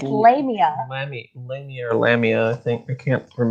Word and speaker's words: Lamia: What do you mean it's not Lamina? I thought it was. Her name is not Lamina. It's Lamia.